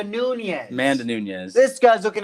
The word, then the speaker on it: Nunes: Junis, or no, I just saw UNES. Junis. It's not Junis. She's from Brazil. Eunice. It's not Eunice. Featherweight. How do you say the last name? That's the last name. She's going against Megan Anderson Megan Anderson. I'm not even looking at. No, it's Amanda Nunes.